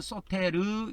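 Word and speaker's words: σωτήρ: 이 구원자를 헬라어로 소텔 이렇게 해요. 조금 옆으로 발음을 늘려서 하면 소테르 이렇게 발음을 합니다.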